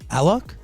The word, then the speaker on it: Alok: You know, it's because here you usually would say Alok, right? Yeah. But if you say Alok in Brazil's like South America, people wouldn't really relate to it because there's Aloki. So that's why I try to push Alok everywhere, so we get